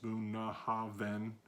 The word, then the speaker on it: Bunnahabhain: the I don't like the location of the buna haben pronounced boom ha then and meaning mouth of the river in Gaelic